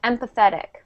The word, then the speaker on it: empathetic: And quickly it's pronounced empathetic.